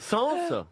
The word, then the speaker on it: Sainz: Sens. Comment vous dites? Sens. Comment vous... Alberto. Sens. Oh, bah, enfin, prononcez-le bien. Oui, moi. c'est à l'espagnol, hein, ça que je le prononce moi.